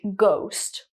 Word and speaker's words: ghost: I hope you remember, when GH is at the beginning of a word, most of the time it's a hard G sound, like ghost.